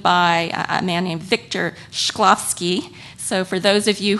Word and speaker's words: Shklovsky: that was coined by a man named victor shklovsky so for those of you who are tweeting that's spelled s h k l o v s